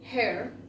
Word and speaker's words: her: then we have her, como si esta H fuese una J, her, then we have its,